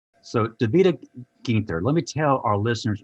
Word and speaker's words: Ginter: first try correctly i was trying to say gingka is that the proper pronunciation that's exactly right so david guinta let me tell our listeners more about davida